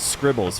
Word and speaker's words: Scrzbbles: right this is scribbles i believe it's pronounced scribbles as if the z were an i uh but i actually